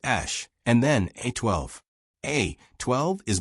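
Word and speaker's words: Æ: The letter X, then AE, pronounced ash, and then A12.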